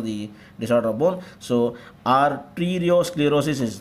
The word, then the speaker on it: Arteriosclerosis: Arteriosclerosis is the correct pronunciation.